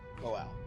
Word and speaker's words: Moelle: Morel is spelled Moelle. Moel. Yeah.